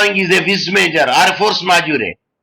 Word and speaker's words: force majeure: Which of the following is a vis major or a force majeure? We should not say force majeure. Force majeure. That is the pronunciation.